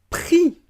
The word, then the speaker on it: pris: et qui se prononce prix donc on ne prononce pas le s final et j'ai pris tu as pris il